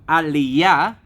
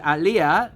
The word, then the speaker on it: aliyah: so what's Aliah see it all depends how you pronounce it right if you put the emphasis on the end of the word alah then you're talking about immigration to Israel but if you use the word alyah then people won't necessarily